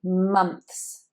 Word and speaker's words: months: And this is another, this is a sibilant cluster here. So these s and th sounds, they are rather tricky. Months, months.